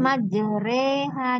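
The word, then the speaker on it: مجراها: waraha wamur wamur kemudian Ma jereha di sini bacaan imalah ya jadi bacaan yang apa dibacanya tidak sesuai seperti biasanya gitu namanya bacaan khusus ya Imal jadi ini dimiringkan majereha reha gitu kemudian tadi bis e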